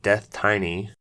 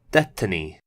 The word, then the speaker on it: DeathTiny: be pronouncing it as death tiny as I think it would read you know to most normal people but apparently the name is a silly pun on the word destiny so it's pronounced destiny which I guess you